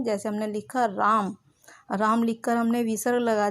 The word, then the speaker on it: रामः: तो जो विसर्ग लगाते हैं हम उसका उच्चारण करते समय हमारे मुंह से आवाज़ ह की निकलती है, लेकिन हम वहाँ पर ह नहीं लिखते हैं, वहाँ पर हमारा संस्कृत में विसर्ग लिखा होता है।